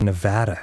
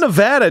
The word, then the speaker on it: Nevada: it that no bad it's not Nevada it's Nevada wow I don't know how could it be anything but Nevada it makes no sense